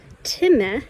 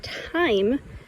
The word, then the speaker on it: time: And this word is not tim, it's time because the e makes the i say its name.